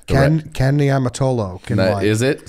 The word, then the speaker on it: Niumatalolo: Niumatalolo.